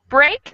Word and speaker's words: break: a little more closed so that break is a little wider more of an a sound and the other two are like a long e sound all right next line